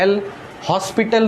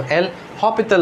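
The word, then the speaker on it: L'Hôpital: तो जब भी दुनिया खत्म होने लगती है ना, तो कैलकुलस में एक रूल है जिसको बोलते हैं एल हॉस्पिटल रूल, नहीं बोलते हैं, क्या बोलते हैं इसको? एल हॉपिटल rule.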